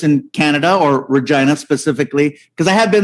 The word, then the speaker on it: Regina: we're in regina saskatchewan regina the city that rhymes with fun that's it that's what